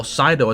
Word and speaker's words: Seido: hell order realm has a real name sedo or pido as it's now pronounced but chaos realm is